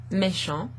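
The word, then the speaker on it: méchant: a reflection there so if we were to take that syllable there me and then follow it by sho that word meshong means wicked or kind of naughty if you like michonne that's the correct word in french here here but this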